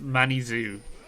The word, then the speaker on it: Manizu: So I've been informed by Imbog that it's actually pronounced Manizu for the Swain player. So okay, I will try. Manizu. Yeah, I guess they're pronouncing it the French way.